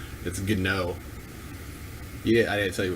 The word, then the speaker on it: Gnog: One of the G's is silent, so it's Gnog. Yeah, I didn't tell you which G was silent. Actually, you said it was Gnog. No, it's Gnog.